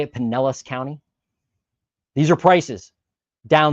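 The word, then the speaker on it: Pinellas: Penelis County. Okay. Penllis County, Florida. What do we got? It's right here. Right. Is that how you say it? Penllis County.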